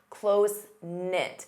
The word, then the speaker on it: close-knit: Notice the K is silent. Closenknit.